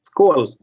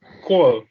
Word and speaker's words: skål: Skål. Skål.